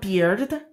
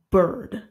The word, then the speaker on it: bird: this it's a bird it's not beard it's bird bird bird next we